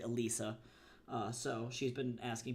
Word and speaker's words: Alysa: Um but then also to her first name that people have been saying it's Alyssa, but her name is actually Alisa.